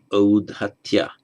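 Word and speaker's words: औद्धत्य: being arrogant, or arrogance, you strengthen the first vowel, first syllable, from u to au, and the final a becomes a ya. So audhatya means the conditional state of being uddhata.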